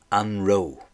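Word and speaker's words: an raibh: And that's anro. Anro. And it's very often pronounced, the an part of it's very often pronounced very subtly, very quietly.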